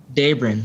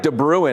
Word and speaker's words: Daybrin: Daybrin, yeah. Okay, Daybrin. Okay, I was going to say like De Bruin. I'm glad you said it, Daybrin.